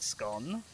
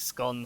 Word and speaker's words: scone: use each and like all of the home counties and stuff pronounce it scone which is why I think scone sounds Posh to my ears it's scone but also lots of the north pronounce it scone which is whyer there is it sounds not Posh you went a wicked